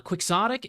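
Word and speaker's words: quixotic: Uh, Quicksotic is a person who is hopelessly idealistic.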